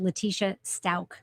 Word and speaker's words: Leticia Stauch: By the way, one of our viewers says it's pronounced Leticia Stauch.